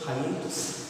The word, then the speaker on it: hiatus: How is this word pronounced as hiatus? Try telling I ate us. And then try changing the first word into hi ate us.